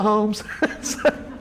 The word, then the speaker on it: Holmes: it I got it homes County it's homes but they the people there call it homes the Keith cabin this